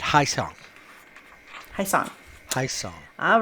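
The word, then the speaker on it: Ha-seong: He said, Haesong.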